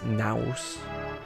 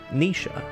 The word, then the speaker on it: Naoise: So yeah, you're gonna read that as Noise, rather than read this, which most people will just look at it and say it's Naoise, like it rhymes with mouse or something. But it's Nisha, and it's a traditional Irish name.